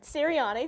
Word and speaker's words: Sirianni: So I do want to hear Tom pronounce the name. I believe Nick Sirianni? Nick Sirianni, there we go.